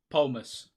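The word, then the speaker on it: Polemos: Polmus. It is Polmus. That's the name. P-O is Pol and then M-O-S. I think I'm pronouncing that right.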